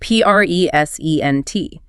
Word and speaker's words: present: If you stress the second syllable present, it's a verb, like to show something to an audience.